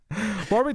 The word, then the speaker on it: Warwick: There's a W there. I think I'm saying it right. Yeah, it's a place. It's Warwick.